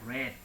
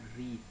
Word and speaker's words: read: Kalau ini bentuk ketiga berarti kita bacanya read, bukan read.